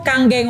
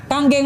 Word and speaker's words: Kangen: Nah, Kangen ini bukan kangen bacanya Bapak sekalian. Ya, kebetulan nama saya pula, kayak nama sebuah band gitu kan. ya itu, oke. Nah, bacanya Kangen, artinya back to origin